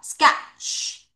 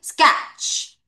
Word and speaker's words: sketch: T가 소리가 살짝 나는 거예요. 거의 안 난다고 보시면 되거든요. 요렇게 할게요. 자, 아까 SH 발음할 때 쉬 하듯이 CH 발음할 때도 쉬 앞으로 빼는 거예요. 자, 여기만 같이 읽어볼게요. sketch. 다시 sketch. T가 발음이 살짝 나는 거야.